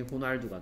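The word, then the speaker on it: Ronaldo: 자 이게 좀 특이한데 이제 뭐 스페인에서 얘는 H 같은 소리를 냅니다. 그리고 이 사람 이름이 스페인 사람 이름이기 때문에 그래서 발음이 호날두가 되는 거예요.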